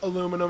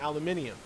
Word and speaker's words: aluminium: a regional thing like we pronounce aluminum aluminum you pronounce aluminum aluminium it's a Reginal thing yep um I can